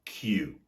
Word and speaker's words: queue: the same pronunciation as the word q c e which is the long